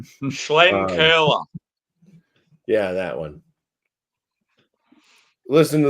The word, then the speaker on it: Schlenkerla: So when I'm saying I mean I'm actually pronouncing it correct. Schlenkerla.